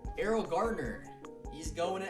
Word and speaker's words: Garner: Did I say Gardner? I'm a retard. Errol Garner.